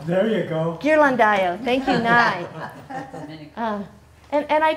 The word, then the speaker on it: Ghirlandaio: I don't know how to pronounce his last name. Does anybody? Ghirlandaio. There you go. Ghirlandaio.